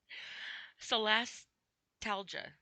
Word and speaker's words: solastalgia: Can I just spell it? Solastalgia. C-O, that is not even a C, that's an S. Jeez, I'm Pete. Okay, let's try this word again. Solastalgia.